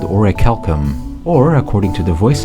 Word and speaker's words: Orichalcum: human nervous system with an ancient substance called Orichalcum, or according to the voice actors, Auriculum.